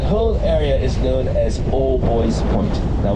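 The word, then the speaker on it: Albuoy's Point: area is known as old boys point now we pronounce it boys but it's spelled like booies like the bers yeah and according to the mayor of Hamilton if you believe all boy point is the apex of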